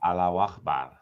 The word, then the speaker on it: Allahu Akbar: No, salam No, praise Allah is Allah Akbar. That's different. Allahu Akbar. Yeah. You say it 3 I'm a times. good pronunciation, aren't I?